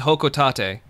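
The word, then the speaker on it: Hocotate: ] irish welcome to hoka tate let's see whole i'm looking for a whole hoco tate all right well the japanese pronunciation is hokutate uh i'm gonna i'm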